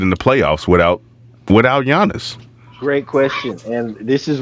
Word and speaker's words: Giannis: for like 30 years already listen Cal down Giannis got injured recently uh he has been placed